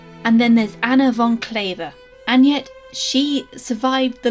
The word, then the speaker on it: Kleve: Quick disclaimer, I'm going to say Anna von Kleve and not Anne of Cleves, as Kleve as in waver is the proper pronunciation, not Cleves as in sleeves.